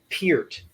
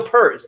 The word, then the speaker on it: Peart: or rock stars named Neil Peart not Neil purrs Neil pierre-pierre hey I